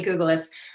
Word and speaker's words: Cajulis: now turn to miss cajulis i apologize i'm certain i'm mispronouncing your name that's all right it's google's i've been a resident